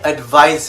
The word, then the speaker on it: advise: as a verb i advise him he advises her the english experts advise you to pronounce the s as zed in the verb form of the word to broach a subject